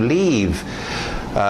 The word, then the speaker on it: leave: Faz o som de I. To leave.